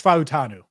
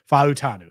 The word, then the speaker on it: Fautanu: And all right, so it's Fautanu. That just to establish it, because I say it wrong too. And so I just looked it up in the Beast to confirm. Fautanu.